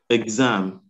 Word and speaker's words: exam: Number four, the X is gz. Exam. Gz. Exactly.